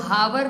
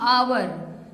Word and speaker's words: hour: HOUR हम लोग हावर नहीं रीडिंग करते हैं, हम लोग पढ़ते हैं आवर। That means H silent है।